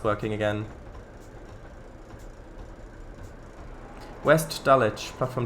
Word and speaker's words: Dulwich: Dulwich. Oh, right, that's how you pronounce that, I see.